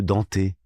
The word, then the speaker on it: Dante: ça et qui disaient eux danté. OK. Alors, quelle est la bonne prononciation ? Moi, j'irais plutôt tendance à dire Dante parce que la Divine Comédie Bah moi aussi. Donc comme Dante, on a toujours dit Dante. Dante. Après euh je sais parce que eux ils prononcent peut-être à la à la japonaise peut-être, je sais pas du tout.